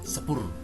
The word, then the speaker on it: sepur: Nah, bukan cepur ya, sepur atau kereta api cepat ya, sepur namanya.